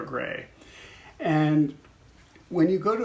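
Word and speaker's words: greige: So it's very odd when people see it for the first time, they think, am I supposed to say grayish? But it's said gray, like the color gray.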